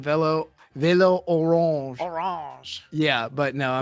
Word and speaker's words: Velo: pronounced Velo Orange.